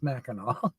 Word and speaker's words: Mackinac: The jackets were first made of this colorful blanket cloth, and since Mackinac is pronounced Mackinac, see, I did pronounce that correctly, they were called Mackinac jackets.